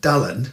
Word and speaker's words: Dylan: school teacher she thought the pronunciation if it's done right in Welsh as Dallin yes that he would